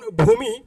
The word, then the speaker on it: ভূমি: কার থাকলে উচ্চারণের ক্ষেত্রে দীর্ঘ উ এর কার থাকলে এর উচ্চারণ রস বা এর কার হয়ে যায় যেমন ভূমি তোমরা লক্ষ্য করো ভূমির মধ্যে কিন্তু এখানে দীর্ঘ ব্যবহৃত হয়েছে সঠিক উচ্চারণ কি হয়ে যাবে রস হয়ে যাবে দেখো এখানে ভূমি হয়ে